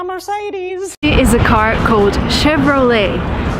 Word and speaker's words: Chevrolet: is a car coat Chevrolet and surprisingly it's an American company but it uses a French name and sometimes Americans just